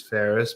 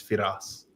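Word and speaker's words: Firas: No, no, that that's how I I introduce myself just as Ferris. But you know when it's with like really close family and friends though they say my name in Arabic, it's it's Fidas, right?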